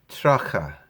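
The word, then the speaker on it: tríocha: Tracha, it's spelled tricha. Most people I know say tracha.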